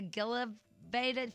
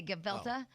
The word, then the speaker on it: gefilte: want to get the Gila baited fish or whatever OPA yeah but that's how you say gefilte but she couldn't pronounce it right so she said it the way it was spelled that's embarrassing it spelled